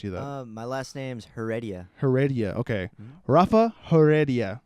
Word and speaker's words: Heredia: My last name's Heredia.